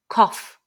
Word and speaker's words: cough: have a cough so this word we need to pay attention to the cough the the GH sound so in English sometimes that sound is silent for example with through or though but with cough it sounds like an F so I had a